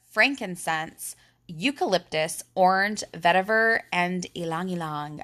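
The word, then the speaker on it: ylang-ylang: eucalyptus orange vetiver and Alang Alang I like to say it like the proper way most people here in America say ylang ylang but I have a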